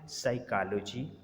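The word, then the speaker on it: psychology: जैसे साइकोलॉजी, अब यहाँ पर देखें हमने पी को साइलेंट कर दिया।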